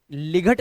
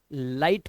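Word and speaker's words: light: बोला गया है कि जी एचटी में आया हुआ जो जीएच होता है ना ये हमेशा साइलेंट रहता है ध्यान रखना तो इसे लिग नहीं लाइट पढ़ेंगे इसी तरह से यहां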